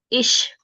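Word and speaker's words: ich: For example I सी एच ई से हा is pronounced as इश इश मींस मैं आई मींस इ आई अगर ये दोनों वोवेल्स होंगे और उनके बाद सी एच होगा तो इसकी साउंड शीन की बन जाएगी।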